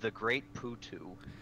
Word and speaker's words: The Great Putu: it all cast long it is pronounced the great Pooh - yes I agree